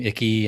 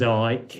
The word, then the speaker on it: Icke: Yeah, I think it's a lot of people call him Icky and Ike, and Icky. Nobody knows how to pronounce his name, but his name's So his name's Ike.